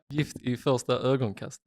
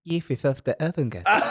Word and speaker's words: Gift i första ögonkastet: Gift I första ögonkastet. Gift I första ögonkastet. That's how I see Kim saying it. Gift I första ögonkastet.